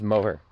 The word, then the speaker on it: Moher: Only thing that sucks is it's the same thing with the cliffs of Moher, I still can't pronounce it. Pretty sure it's Moher. Yeah, Moher.